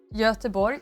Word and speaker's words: Göteborg: Only recently Gothenburg is actually pronounced like Göteborg.